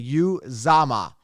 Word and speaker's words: Uzomah: Now, if I were to spell Uzomah, I would spell it Youzama or Zama, right? Youzama, Uzomah. That's what they're pronouncing it, but it's actually Uzomah, Uzomah, right?